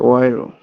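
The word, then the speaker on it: Euro: সুয়েলার এ এ তারপরে ও পাশাপাশি থাকলে উচ্চারণ হবে ওয়ে ওকে। ওয়ে ইউএ উম অয়ে, উয়ে উয়ে অয়ে, অয়রো। আচ্ছা আচ্ছা ওয়েরো।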